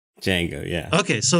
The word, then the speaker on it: Django: done sounds good okay like the D is silent like it's like write a Django yeah yes it's like is it was a Django Unchained or dud Django Unchained I don't remember it just jingle right Django yeah okay so it's